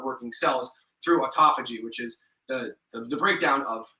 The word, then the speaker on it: autophagy: So okay, so when you fast for more than 12 hours, your body does something that's called autophagy, it's autophagy. There's a bunch of different ways to pronounce it, but it's basically the removal of senescent cells.